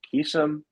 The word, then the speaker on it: Vakeesan: His name is Vakeesan. I'm going to pronounce this correctly.